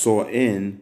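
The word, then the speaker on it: Samhain: ancient celtic festival of saw in pronounced saw in meaning end of summer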